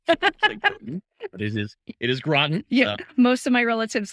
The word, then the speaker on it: Groton: So glad to be here, and I appreciate that you pronounced our town correctly. Right. But it is Groton.